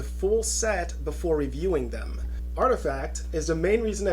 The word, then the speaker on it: RTFKT: crypto and blockchain Technology rtfkt pronounced artifact Nike's fourth brand had